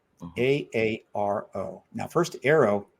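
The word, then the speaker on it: AARO: A a now first arrow. It's good. All right. Let's face it. You know, it's the only way to pronounce it. It's not AO. It's arrow.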